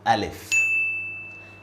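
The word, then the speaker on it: ا: And this is how we write Alif. Alif. And this is how we say Alif.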